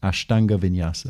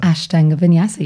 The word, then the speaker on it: Ashtanga Vinyasa: pleasure and um first of all did i pronounce that right ashtanga vinyasa ashtanga vinyasa yes you did okay well we'll come to